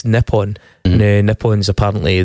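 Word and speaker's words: Nippon: call it X nipon nipon is apparently the formal pronunciation of Japan in the native tongue M so there you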